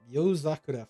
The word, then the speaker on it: Yozakura: So the Yozakura family, is that how it's pronounced? Yep, Yozakura family.